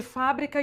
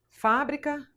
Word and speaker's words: fábrica: O exemplo que eu dei de fábrica e fabrica. Então vamos supor, fábrica, fabrica. Escreve do mesmo jeito. Ah, mas tem um acento. Não tem problema, porque eu tenho que obedecer a regra de acentuação. Mas eu não mudo nenhuma letra. Então, elas escrevem igual, mas eu pronuncio diferente.